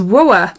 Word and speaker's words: WOAH: new makeup line to next and it is whoa it's how you say it whoa skincare and